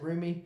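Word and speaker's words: Roumie: way that Jonathan roomie is that how you pronounce it roomy yeah I like the way he the humanity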